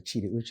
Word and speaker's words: Chidi Uche: all the way in from Jacksonville Florida Dr Chi uch welcome thank you do miss my name is Dr cheetah uch thank you for having me absolutely and you know I made sure I pronounced that precisely you're the founder of Jacksonville